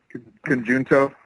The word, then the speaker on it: Conjunto: think it's a J and it's not a J sound. I don't know. That's just where my brain goes. Conjunto.